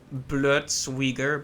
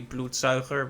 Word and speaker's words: Bloedzuiger: And in the very first Witcher game, they had a creature they called Bloodsuiger, but it's actually Bloedzuiger, which just means bloodsucker.